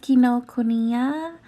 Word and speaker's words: Kinokuniya: And then we went to, I think it's called or pronounced Kinokuniya.